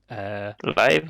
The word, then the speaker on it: LIV: I've heard it pronounced LIV Golf, but it's Yeah. I don't know. LIV Golf. That's essentially what it is because it's the Roman numerals for 54, and there's 54 holes Yeah.